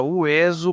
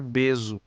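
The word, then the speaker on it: hueso: Assim, por exemplo, o evo, sabia-se que se pronunciava uevo e não bebo, ou como na palavra ueso para não pronunciar beso.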